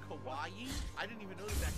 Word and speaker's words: kawaii: like a giant hot dog very good it's pronounced Kawaii I didn't even know that that pronounced Kawaii